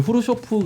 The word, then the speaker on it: 흐루쇼프: 고 많이 불렀어요 어 요즘은 이제 발음을 후루 쇼프 가 맞는 발음이다 올 때 또 바뀌더라구요